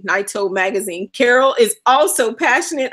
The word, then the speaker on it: Nyota: It's Nyota, Nyota magazine.